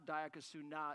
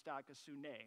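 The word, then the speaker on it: dikaiosune: I couldn't get a long A in there. It's not diakosuna, it's diakosune, right?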